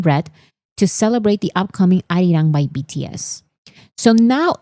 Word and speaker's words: Arirang: Some people are struggling to pronounce Arirang because their first instinct is to say Arirang. But maybe because my first language is Spanish, I immediately when I read the title Arirang, I immediately said Arirang. Like this is pronounced Arirang.